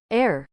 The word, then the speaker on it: Heir: Jovan Kreel, Ire or Air? Ear? How's it pronounced? Air.